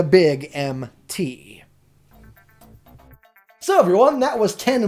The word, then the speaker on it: Big MT: No, you're more likely to pronounce it phonetically, and when you come back to your village, you're going to tell everyone how you found the Big MT.